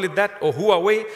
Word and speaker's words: Huawei: Samsung, iPhone, Huawei, if you want to call it that, or Huawei. When I went to China, they told me it's pronounced Huawei.